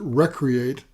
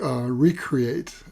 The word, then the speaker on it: recreate: And he used the word, you might pronounce it recreate, but I like recreate, same spelling, to bring forth the flower from what Walt Whitman called the seed of perfection.